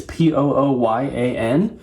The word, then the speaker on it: Pooyan: And the other one is, I think it's pronounced Pooyan. It's Pooyan, but it's in like a weirdly shaped cartridge and everything.